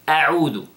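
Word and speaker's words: أعوذ: Now, the first word is a'udhu. A'udhu. First, you know, notice the hamza, and then after that, ayn.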